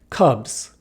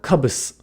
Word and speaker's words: cubs: Here, the S at the end of the word is pronounced more like a Z than an S. Cubs, not cubus, right?